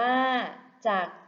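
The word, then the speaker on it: จักร: ว่า จัก อ่าน ว่า จัก เย็บ ผ้า คำ ว่า จัก มี พยัญชนะ ที่ ไม่ ออก เสียง คือ ร เรือ ค่ะ และ ภาพ สุด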